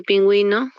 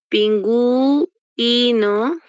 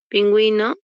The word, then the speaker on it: pingüino: diptongo lingüística igual eh Bueno esta u está sonando por qué porque tiene diéresis en caso no tuviese diéresis es un no suena Entonces no habría diptongo entonces ojo acá para que u esta esta u con diéresis está sonando Entonces ahí sí hay diptongo entre una u y una i pero muchas veces